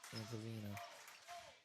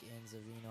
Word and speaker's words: Anzavino: Fernandez with it now gives it over to Antavina. Antavina 3. No good. They're rebound by Jack Casey. Nothing's falling now for Cranston West. Sorry, that was Jake Anzavino. I keep mispronouncing his name.